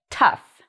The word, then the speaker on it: tough: this like uf so it has a short vowel at the beginning and it sounds like the word cuff if you look at